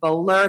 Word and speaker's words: Bohler: On January 30th of 2019, officers responded to 2510 Bowler, that's spelled Bohler Road, which is located in the city of Atlanta in Fulton County, where they met with the victim, Jackson Hayes.